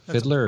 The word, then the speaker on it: Fiedler: How's that pronounced? Fiddler or Fiedler? Fiedler. I think it's Fiedler, That's yeah.